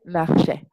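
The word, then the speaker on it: marchaient: marchiez, et il, elle marchait. A-I-E-N-T. Donc, ici, de la même manière que il ou elle marchait, le A-I-E-N-T se prononce également est. Il ou elle marchait.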